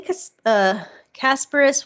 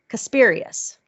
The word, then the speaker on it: Casparius: I mean, Ben Casparis was Casparius, right? Mm-hmm. I always want to say it wrong.